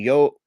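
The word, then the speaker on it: YOH: on the first show, you will see Okada, Tomohiro Ishii, Hiroki Goto, Yoshihashi, and Yo which is spelled YHO, Yep, yo.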